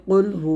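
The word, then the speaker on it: قل هو: ফাটা আল্লাহর জন্য নাউজুবিল্লাহ ঠিক একইভাবে কফ বর্ণ দিয়ে হবে কুলহু আল্লাহু আহাদে যার অর্থ হবে তুমি বলো আল্লাহ এক আমরা যদি কফের জায়গায় যদি কাফ উচ্চারণ করে ফেলি কুলহু ওয়াল্লাহু আহাদ তাহলে বলা অর্থটা হবে তুমি খাও আল্লাহ এক তো এরকম অর্থের কিন্তু পরিবর্তন ঘটে এইজন্য আমাদেরকে প্রত্যেকটা হরফ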